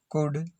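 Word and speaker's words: could: OU का उच्चारण ऊ, कुड, शुड, वुड, OU का उच्चारण कुड, शुड, वुड। L silent है, एल साइलेंट है, इसमें भी ये एल साइलेंट है।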